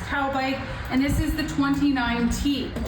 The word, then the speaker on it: Taubik: 2025 Taubik is the brand, Taubik, pronounced Taubik, and this is the 29T.